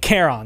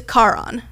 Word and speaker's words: Charon: But technically, it is Charon. Charon. Car goes on, car goes off.